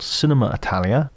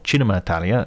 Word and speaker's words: Cinema Italia: coming weeks it's called Cinema Italia or China Italia if I give it the proper Italian pronunciation and will featured guests